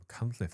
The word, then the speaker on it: Machynlleth: Machynlleth, where's that? You pronounced that very well.